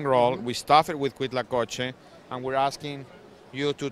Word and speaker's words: Huitlacoche: It's called Huitlacoche. That's how you pronounce it.